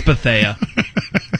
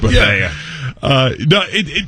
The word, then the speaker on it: Bethea: Him and Bethea had a damn good year. Or Bethea. Yeah. It's Bethea.